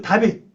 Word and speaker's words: 다비드: 그 다윗 요거죠. 원래 다윗 이렇게 말해요. 다비드 말하는데 합성이 다비드 보통 다비드로 발음을 많이 합니다.